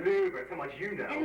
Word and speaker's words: Louvre: It's pronounced Louvre, Louvre, so much you know.